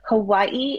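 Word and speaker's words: Hawaiʻi: It like Hawaii is actually Hawaii, not Hawaii. I don't know why they wrote it with a W instead of a V, but it's Hawaii.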